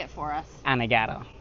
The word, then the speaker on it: Anegada: All my life I've been in Anegada. Gotcha. Yeah. So I'm saying it maybe incorrectly, so say it for us. Anegada. Anegada. Yeah. Some people say Anegada. I think that's the Yeah. United States pronunciation.